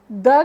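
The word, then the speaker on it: the: साथ पढ़ेंगे तो वो द की साउंड करेगा, लेकिन अगर हम एक वाउल लेटर के साथ शुरू होने वाले नाउन के साथ द पढ़ेंगे तो उसकी प्रोनाउंसिएशन दी होगी।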